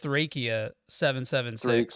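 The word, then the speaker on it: Thracia 776: just think it's a funniest side apparently it's pronounced trachea 776 yeah yeah and I'm like yeah yeah Dracula's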